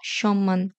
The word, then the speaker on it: সম্মান: উচ্চারণ হবে যেমন বাগমি যুগ্ম বাঙময় কুটমল জন্ম সম্মান ব ফলা উচ্চারণের শেষ নিয়মে আমরা দেখেছিলাম যুক্ত ব্যঞ্জন বর্ণের